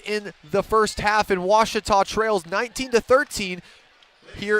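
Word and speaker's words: Ouachita: by your side uh I've heard people say Oita O A Oita is it pronounced Oita searching for was Baptist University back in Texas everybody pronounces it Witchita but really it's was was was how would you pronounce it was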